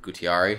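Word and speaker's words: Guattari: another book called anti-oedipus by uh daluz and gutiari i think is how it's pronounced it goes during elite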